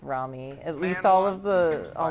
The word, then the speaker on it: Rami: I always thought it was Remy, but I'm pretty sure it's Rami.